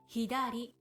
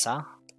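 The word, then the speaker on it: 左: Hidari Hidari, which is left. Also, you can pronounce it as sa.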